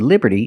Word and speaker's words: liberty: And we see the t in liberty is between vowels. So it's pronounced like a fast d. Liberty. Liberty. Not liberty, but liberty.